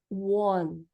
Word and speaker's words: one: Palavras que terminam em E no inglês, a gente não vai pronunciar esse E final. Então, como é que vai ficar aqui o número 1? A gente vai pronunciar ele dessa forma aqui, ó. One, one, tá? A gente não é one ou one, como a